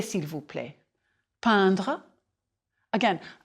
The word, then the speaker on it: peindre: prononcez s'il vous plaît peindre again peindre a pretty flat sound like impression important intéressant je peint tu peins